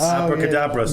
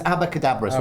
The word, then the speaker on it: Abacadabras: Oh, they always mispronounce that horse, didn't they? What did you call it? Abracadabras. I think I just did. Yeah, you did. Yeah. It was Abacadabras, wasn't it?